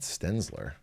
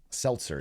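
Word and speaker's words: Selzer: the stenzler Iowa po that's not how her name is spelled right it's not stenzler is it Seltzer yeah like that's not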